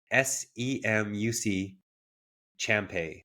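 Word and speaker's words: Semuc Champey: I always pronounce things wrong, but SEMUC Champay. So Champ EY.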